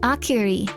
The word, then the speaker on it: Auri: I wasn't saying it correctly. It's a Aar Auri. Auri Akuri.